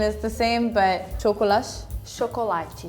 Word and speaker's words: chocolate: I think the biggest difference, even with you, is that we don't say cho at the beginning, we say sho. Chocolate. And the T then, it's like chi sound.